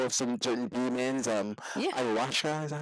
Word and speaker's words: ayahuasca: ayahuasca, is that how you pronounce it?